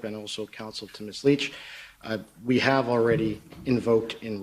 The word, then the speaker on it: Lich: Bible please foreign State your full name and spell it out Leach l-i-c-h do you swear that the evidence to